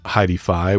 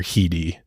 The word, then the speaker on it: Heidi: a nearby tree so her friends called her uh heidii which is that's how will be calling her or just Heidi how it's spelled too yeah right um but sometimes if you watch some documentaries about the case Heidi's family they called her heii it was just like kind of their nickname for her but we'll